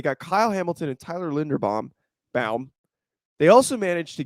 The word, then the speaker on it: Linderbaum: you're good you're good it's not it's not bam it's bomb bomb bomb they managed to also